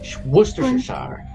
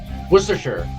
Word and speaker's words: Worcestershire: If you hear British people say it, it's Worcestershire.